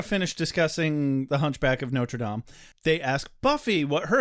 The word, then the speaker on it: Notre Dame: Cut to the college the next day, where Tara, Willow, and Buffy are walking and discussing The Hunchback of Notre Dame. Hey, you pronounced it correctly.